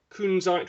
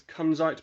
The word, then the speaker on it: kunzite: You've got kunzite, which is often pronounced as kunzite by my girlfriend, but it's not. Kunzite.